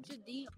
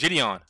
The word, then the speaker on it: Gideon: That's like Jadeel. You didn't even say his name right. It's Gideon. Yeah, that's not. No. You said Dion.